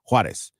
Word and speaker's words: Juárez: Juárez.